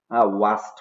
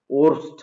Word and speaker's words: worst: 9 number, সেটা হচ্ছে ওয়াস্ট, উচ্চারণটা হবে ওয়াস্ট। ওরস্ট আমরা অনেকে বলি, আসলে এটা রাইট না, রাইট প্রনাউন্সিয়েশনটা ওয়াস্ট হবে, WORST।